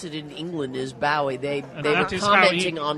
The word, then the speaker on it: Bowie: other day my God that's that's how they pronounce it in England is Boi they they were commenting on his death and